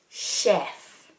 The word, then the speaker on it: chef: chef. Chef. Many non-native speakers struggle with the pronunciation of the word chef because of the sh sound being written with a ch.